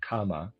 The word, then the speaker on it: kama: Readers aside and I am pronouncing that correctly or at least not the word karma. It's the word kama k a m a just for clarification there.